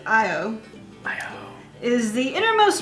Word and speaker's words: Io: EO Thor's hammer. Ooh, super hot sauce. It's extreme. Oh. So this is not going to be me at all. No, but this sounds good. Okay, it's pronounced Io.